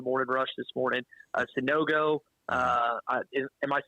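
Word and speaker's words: Sanogo: got it Brad so I would say I butchered his name probably 15 times on the morning Rush this morning uh sunogo uh am I saying that correct now that's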